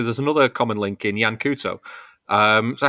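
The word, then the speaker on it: Yan Couto: But Jan Couto is... Jan Kaut, I think, is how you actually pronounce him, but I get it wrong all the time.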